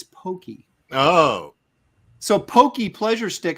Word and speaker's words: Pocky: says come on Aaron I told you to pronounced Pokey or Pokey haha so it's not Pocky it's Pokey oh so Pokey pleasure